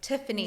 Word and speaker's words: Tiffany: But like, at this point, I'm like, no, like, I should have like said, like, now when people say Stephanie, I'm like, no, it's like Tiffany.